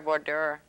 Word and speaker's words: voir dire: They didn't go to the proper voir dire. Is that how you pronounce voir it? Voir dire.